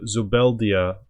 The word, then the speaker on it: Zubeldia: And Zubeldia, I believe that's how you say it properly, he's got decent pass goals, 14 and 12, so it's not too bad, and he can step higher.